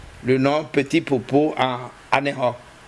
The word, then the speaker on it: Aného: nom Petit Popo en Aného. Et le Khe, là-bas, dans l'allemand, ça s'écrit avec CH et que les Français prononcent Anécho, alors que bon, les Allemands, Anécho, écrit avec CH.